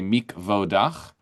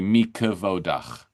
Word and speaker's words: mikvah: A lot of people will see this say mikvah but it's actually mikvah. There's extra syllable there.